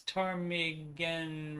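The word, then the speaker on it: Ptarmigan: read this one uh from silent p i guess tarmigen ridge trail pit over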